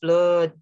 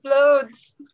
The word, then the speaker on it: flood: they should still say flood how do you say this one loads no no not floats flats blood floods just like blood blood and this